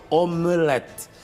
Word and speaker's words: omelete: Bom, de acordo com o português padrão, a palavra correta, como apresenta o slide seguinte, é omelete. Vem do francês, não é? Em francês, termina com té no fim. em francês, regra geral, não se pronuncia as últimas palavras. Portanto, como apresenta o slide seguinte, a no português padrão, o correto é omelete, que é aquele